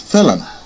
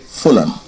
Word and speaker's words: Fulan: But the name by which they call themselves is Felan, which might be more correctly reading Fulan, according to the sound of the syllables.